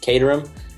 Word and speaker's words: Caterham: Belgium they all say it different but it's Caterham that's how that's how i started do it pronounce it get the ram Caterham I got